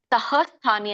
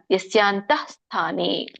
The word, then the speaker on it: ಯಸ್ಯಾಂತಸ್ಥಾನಿ: ತಕ್ಕೆ ವಿಸರ್ಗ ಇದೆ ಹಾಗೆ ಇಲ್ಲಿ ತಹ ಸ್ಥಾನಿ ಅನ್ನಂಗಿಲ್ಲ ಯಸ್ಯಾಂತ ಸ್ಥಾನಿ ಸ್ವಲ್ಪ ಹ ಹೇಳಬೇಕು ಯತ್ಯಸ್ಯಂತ ಸ್ಥಾನಿ ಸಕೆ ದೊಡ್ಡ ತವತ್ತಿದೆ ಸೋ ಯಾವಾಗಲೂ ದೊಡ್ಡ ಥಗಳನ್ನ ದೊಡ್ಡದಾಗಿ ಏನೇನ ಇದೆಯೋ ಅವನ್ನೆಲ್ಲ ನಾವು ಅಲ್ಪಪ್ರಾಣ ಮಹಾಪ್ರಾಣ ಅಂತ ಹೇಳಿ ಹೌದು ನಾವು ಒತ್ತಿನೇ ಉಚ್ಚರಣೆ ಮಾಡಬೇಕುಯಸ್ಯಂತಸ್ಥಾನಿ ಭೂತಾನಿ ಏನ ಸರ್ವಮಿದಂ ಸರ್ವಂ